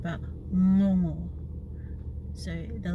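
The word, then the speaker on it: gogo: you use at the in words like sing or song long yeah so it's um so if you had the word g-o-g-o or no it is pronounced not go go not jojo but no more so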